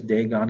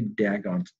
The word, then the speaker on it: Dagon: on the threshold only dagon's torso was left of it and uh that was one daggone i i think it's pronounced dagon but i always say dang on because that was one